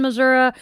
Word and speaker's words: Missouri: Notable incidents and locations: Louisiana, Missouri, Butler County, Clinton County, Crawford County, Sullivan, Missouri, and Big Piney River. And the reason I pronounce it Missouri, and I have learned that this is depends